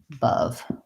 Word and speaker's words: above: an example of both in the word above i have two schwas i have my unstressed schwa here short and my stress schwa here long it looks like this in the dictionary above sounds like uh above short long the errors i might